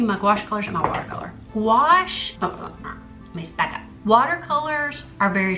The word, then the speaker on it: gouache: it for the color pencils let's move on wash not bûche gouache a I'm trying to think about people who pronounce it it's pronounced will wash you probably